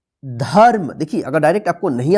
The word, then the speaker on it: धर्म: ध्यान रखिएगा जिस अक्षर पे रेफ की मात्रा लिखा रहेगा उस अक्षर के साथ जो है ना, आधा र का उच्चारण नहीं कीजिएगा। उससे पहले जो अक्षर लिखा रहेगा उस अक्षर के बाद जो है ना, आधा र का उच्चारण कीजिएगा।